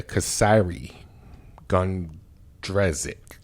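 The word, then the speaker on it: Kysre Gondrezick: um sister of a famed nba wnba player kasiri gundrezic i said it right slow but right um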